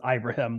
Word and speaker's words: Ibrahim: of Detroit again, but it is pronounced as Ibrahim. We've learned. He says it himself as that. Oh, Ibrahim.